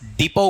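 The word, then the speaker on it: depot: आपका बस डिपो कह सकते हैं। डिपो का स्पेलिंग देख लीजिए क्या है? डी ई पी ओ टी। टी इसमें क्या है? साइलेंट है।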